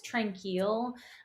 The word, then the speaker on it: Tranquille: this one is called, I think it's Tranquille, because it's spelled like the French way, sanatorium, in Kamloops, Oh.